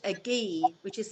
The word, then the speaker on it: gi: professional karate suit now which is called a ghee which is spelt gi um and it's literally a lot